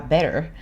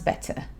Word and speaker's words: better: Parce que ici, ils prononcent bien les T, hein. Ou ils ne prononcent pas du tout. Mais il n'y a pas de D. Parce que les Américains, pour le mot better, ils vont dire better. On dirait qu'il y a un D de better, better, water.